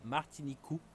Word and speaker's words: Martiniku: Martinique, ils appellent ça Martinicou parce qu'ils peuvent pas prononcer le que, ils n'ont pas ça dans leur alphabet. Donc du coup c'est remplacé en cou, KU.